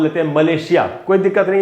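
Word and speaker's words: Malaysia: बड़ा डिफरेंस है कि ब्रिटिश में जो ज बोल रहा हूँ मैं, वो जेड वाला ज है, या एस से जो ज बनता है, मलेशिया ज। लेकिन ये जो नीचे वाला ज है, मलय, इसमें जो ज का साउंड है वो वही है जो प्लेजर में होता है, इट्स माई प्लेजर।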